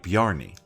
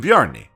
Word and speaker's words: Bjorni: Island no it's it's the the J is going to make a y sound you don't know that I'm pretty sure oh I'm only hearing I'm pretty sure I'm well typically when a word is spelled like that it would be like brony not a problem I